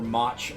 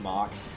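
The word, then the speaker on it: Mach: right I'm going for much punch I know it's pronounced mock but it's always funny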